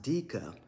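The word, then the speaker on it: Deka: Now, Decca, and the name may be pronounced Dika, who's the main character, finds out she has gold blood.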